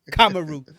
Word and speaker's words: Kamaru: Oh, Kamaru, as y'all be saying his name wrong. Kamaru. Say his name right.